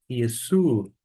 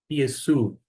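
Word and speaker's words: Ἰησοῦ: concordância, ômicron Y, que vai ter uma pronúncia equivalente ao nosso U, de modo que eu vou ler Ristu, e aqui Yesu, Yesu, Ristu, Yesu.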